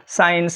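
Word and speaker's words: science: তাহলে এখানে দেখলাম কি মার্শাল এস যেহেতু সি এর দ্বারা ফলোড আছে তাই এখানে সিটা সাইলেন্ট থাকবে মার্শাল সাইন্স এরকম অজস্র শব্দ আমাদের চোখে বেসে আসবে।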